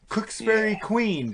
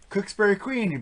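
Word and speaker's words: Cooksferry Queen: And we get to the first song, Cooksbury Queen. Did I say it right? Yep. Cooksbury Queen.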